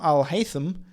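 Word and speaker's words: al-Haytham: pronounce al hai ibm al haitham and actually your first attempt was the best as it should be pronounced with a soft th he also sent me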